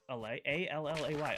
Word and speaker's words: Allay: A L L A Y. Allay.